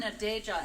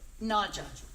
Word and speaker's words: Naja: So Cameron Nadeja, and I'm not sure on the pronunciation. I don't believe Cameron Didn't make it, but none of you know on the pronunciation then. It's not. It's Naja. Cameron Naja.